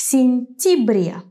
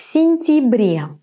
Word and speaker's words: сентябре: Why in this word я is not я, but и в сентябре?